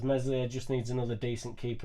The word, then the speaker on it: Meslier: It's hard to have a young aspiring keeper, I suppose, when Meslier Silent S is the young aspiring keeper.